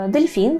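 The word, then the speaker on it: delfin: веб добре далі маємо дельфін дельфін - це у нас дельфін дельфін пам'ятаємо про наголос Дельфін можу краще було його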